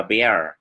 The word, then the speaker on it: bear: Tuy nhiên chúng ta lấy âm bờ chúng ta gắn trước âm ear thì chúng ta lại đọc từ này là bear.